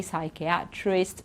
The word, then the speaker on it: psychiatrist: don't say psy we say science or psychology psychiatrist pseudo and then pn it's just okay pneumonia pneumatics okay we don't pronounce the p there at all so keep